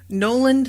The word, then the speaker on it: Noland: But no, it's Noland, and they just sort of say it like Nolan, you know?